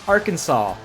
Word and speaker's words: Arkansas: in 1881 the legislature legally declared the correct pronunciation Arkansas not Aransas the internet was born in 1969